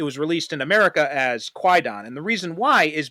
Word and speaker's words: 怪談: So, but in modern pronunciation, it's actually pronounced Kwaidan without the W.